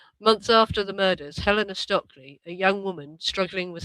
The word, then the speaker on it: Stoeckley: I'm going to go for Stoeckley, that you pronounce her name Stoeckley. Helena Stoeckley. Months after the murders, Helena Stoeckley, a young woman struggling